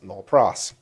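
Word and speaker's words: nolle pros: not go forward and everyone says no no pros so i'll be pronouncing it for the rest of this time as nol pros i think that's rough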